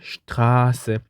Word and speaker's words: Straße: 자, 모음 뒤에 Sz가 있을 경우는 앞에 있는 모음을 길게 발음하죠. 그래서 Straße, Straße, R을 길게 발음해야 되죠.